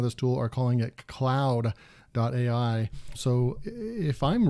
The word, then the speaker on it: Claude: this tool is pronounced Cloud would definitely not be spelled the way that it is up here this is more like Claude there's Jean-Claude Van Damme